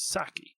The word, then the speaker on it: psake: But this project uses Saki, which is or PSake. Religious debate about how you want to pronounce it. I've always called it Saki.